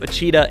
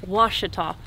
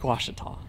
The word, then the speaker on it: Ouachita: cross country about 350 miles up to lake uchida in arkansas so say the name of the lake again lake washita o-u-a-c-h-i-t-a so i've been pronouncing it wrong all